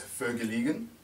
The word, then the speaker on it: Vergelegen: This is the Vergelegen. I would not have said it. Our winemaker, Francois Rotenbach, oh sorry, not winemaker, our wine director, he actually likes to pronounce it to the Americans as Vergelegen.